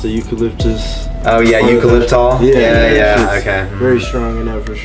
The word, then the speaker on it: eucalyptol: I don't know how to pronounce the eucalyptus. Oh yeah, eucalyptol.